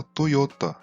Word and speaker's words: Toyota: Vamos falar agora da Toyota. As vogais O e E do japonês têm esse